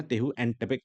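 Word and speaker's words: Tehuantepec: Next है isthmus of टेहुएंटेपेक नाम से एक आता है, थोड़ा-सा प्रोनाउंसिएशन डिफरेंट है, बट देख लेना टेहुएंटेपेक नाम से आता है एंड वो आता है मेक्सिको में।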